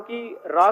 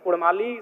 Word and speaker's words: काड़ा: कर लीजिए कि उनमें वे अगर उच्चारण भी करेंगे ना तो वो कारा कहेंगे, ढेरा कहेंगे, भेड़ा नहीं बोल पाएंगे।